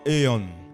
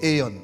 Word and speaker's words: aion: And you have to pronounce it aeon.